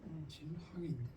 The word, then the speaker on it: 진항: 진항인. 예? 항. 진항인. 아 진항. 진항 맞습니다. 제가 환이라고 읽었죠. 예.